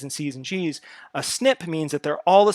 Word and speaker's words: SNP: are differentiated by three snips this SNP there that you pronounce it you say snip and that stands for a single nucleotide polymorphism so poly right here